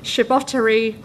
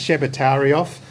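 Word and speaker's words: Tschebotarioff: Davis Memorial Lecture, the 2009 Jack Morgan Awards, and the second Gregory Chabotery Lecture. Thank you and welcome, Chris. Good evening. Amanda actually has got worse pronouncing that. It's Shebatarioff lecture.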